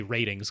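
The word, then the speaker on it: rtings: tip mostly going through they want us to say ratings cuz that's how they pronounce it but it's spelled are Tings it's our Tings and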